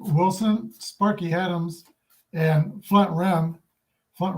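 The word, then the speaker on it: Rhem: Sparky Adams and Flint REM Flint Ram I think that's pronounced rain notice where he's from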